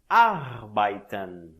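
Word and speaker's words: arbeiten: tam a abae tam preste atenção a pronúncia deste verbo a bae também você não diz a arbitragem não é assim a bae também as letras e no alemão tem o som de a e com acento agudo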